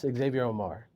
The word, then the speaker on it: Xavier Omär: So, but yes, Xavier Omar. Now, aside from people mispronouncing it, do people misspell it as well?